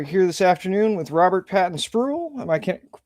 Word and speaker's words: Patton-Spruill: All right, we are here this afternoon with Robert Patton Spruel. Am I can pronouncing that correctly, sir?